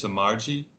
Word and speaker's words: Samarji: and his last name is Samarji. Samarchi.